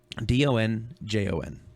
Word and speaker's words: Donjon: This is called Donjon, basically Dungeon RPG tool. So it's donjon.bin.sh is the address. And how do you spell Donjon? Donjon. Hey, you. So dungeon, but spelled like that.